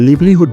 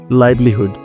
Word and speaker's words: livelihood: So viewers আশা করছি আজকের পথ থেকে এই শব্দটিকে আর লিভলিহুড বলবো না। এই শব্দটির শুদ্ধ উচ্চারণ হচ্ছে লাইভলিহুড।